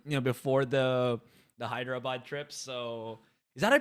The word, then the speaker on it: Hyderabad: the Philippines for you know before the the Hyderabad trip so is that I pronounce it okay perfect yeah before the hydro boat trip I'll be stuck in the Philippines for